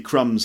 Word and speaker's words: crumb: and there might be crumbs left on the plate or on the table or something crumb with silent B for example why are